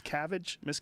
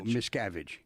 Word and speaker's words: Miscavige: What's the correct pronunciation? It's Miscavige? No, Miscavige.